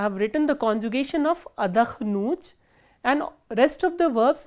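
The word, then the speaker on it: отдохну: written the conjugation of adakhnut, and rest of the verbs will have the similar conjugations. So, how do we conjugate adakhnut? Ya adakhnu, and the stress is on u, which is the ending.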